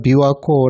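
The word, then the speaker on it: 琵琶湖: 그곳 은 비와호 라 고 불리며 , 일본어로 는 " 비와코 " 라고 합니다 .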